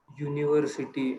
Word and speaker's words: university: next one there are nouns that begin with begin with e and u but have the y u sound which we we say a university or a europe european pronounced university and european so we need to